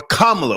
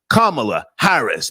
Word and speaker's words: Kamala Harris: Also guys, Camala Harris or Kamla, whatever you call her, the correct pronunciation is Kamala Harris.